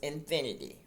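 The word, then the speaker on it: Xfinity: They changed it or added it was infinity, which is spelled X F I N I T Y.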